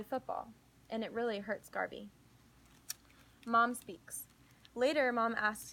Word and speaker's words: Garvey: earphones and push play rhymes with Harvey some people wonder why Garvey why not Marcus so